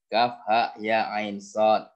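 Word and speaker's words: كهيعص: Bukan alama, ya, bacanya kan, bukan alama, enggak, tetapi alif lam mim gitu kan, sama dengan Kaf, ha, ya, ain, sod.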